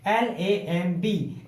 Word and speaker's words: lamb: एम के बाद बी आया, या फिर आप ये मान लीजिए बी से पहले एम आया, सेम। तो इन सिचुएशन में क्या करते हैं, हम बी को साइलेंट रखते हैं। तो हम किसकी ध्वनि निकालेंगे, L, A और M की, क्योंकि ये तो हमने साइलेंट कर दिया, हम इसको नहीं बोलेंगे। तो हमें बोलना क्या है, LAM।